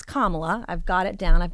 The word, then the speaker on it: Kamala: I know how to say it now it's kamla I've got it down I've got it right